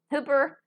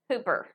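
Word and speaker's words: ὑπέρ: Okay, and upsilon, which is your U, is also going to have a rough breathing. Okay? So let me see. Hooper number 5228 would look like this. Hooper.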